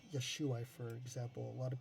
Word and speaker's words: Yeshua: We can talk about that, but it's pronounced Yeshua.